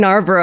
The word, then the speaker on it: Narborough: And Narborough I read out like nar like G n a r like gnarly.